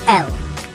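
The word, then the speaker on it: אל: Al is also the short form of the word Elohim, which is a title of Yahuwah, meaning a mighty one. Many in modern Hebrew pronounce it as El.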